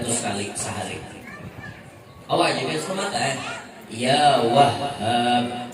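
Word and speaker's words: يا وهّاب: Entah itu bila hendak sugih baca ya Wahhab 300 kali sehari. Awak juga semangat ya Wahhab, hanya batasydid dan pakai alif.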